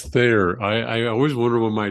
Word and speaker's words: Thayer: I always wonder when my dad would say Thayer and then T as in Tom, Hayer, because it sounds like fair on the phone or Yeah. microphones or whatever. So yeah, it's Thayer.